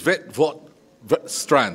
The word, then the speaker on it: Witwatersrand: So it is Witwatersrand, right? Witwatersrand. I am saving you trying to pronounce this, Minister, but it gives me great